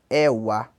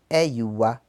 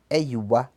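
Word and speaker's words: ẹ̀wá: E número 10, Ewa, tá? Mas o número 10, na verdade, se pronuncia Eiwa. Eiwa. Porque o W tem som de IU, como eu expliquei lá na primeira aula, tá? Não confundam Ewa numeral com orixá. O orixá se pronuncia Iewa. E o número 10 pronuncia-se Eiwa. Ok?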